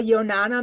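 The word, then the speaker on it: Yonanas: Onana machine is spelled y-o-n-a-n-a-s it's like banana but it's Yonana okay thanks okay any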